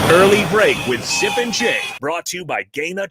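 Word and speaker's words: Jai: If you want to shoot your name, it'd be sorry, it's Jay. J-A-Y. Actually, J-A-I, but pronounced J-A-Y, he says.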